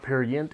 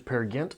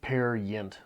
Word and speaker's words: Peer Gynt: have been corrected that it is not parent it is pair against I apologize hopefully that is correct now I in hesitation looked at many different pronunciations many different places on the internet and I went with whatever was there the most and it seemed pear Yente was from my findings the most numerous whoever we are going